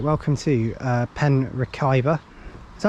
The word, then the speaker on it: Merthyr: There's the station just as you can see it there, and we're going to head off and catch a bus to Merthyr.